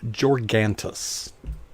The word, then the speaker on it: Georgantas: And with us, all the way from where she lives, wherever that is, in an undisclosed location, is Georgantas. There. Did I pronounce correctly?